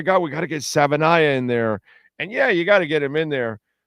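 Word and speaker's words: Savaiinaea: Savainaya.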